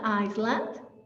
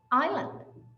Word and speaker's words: island: do you pronounce this it's not iceland is island island island the beautiful shop all